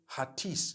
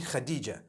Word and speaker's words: Khadija: I would say Hatis for that. No, it's actually Khadija.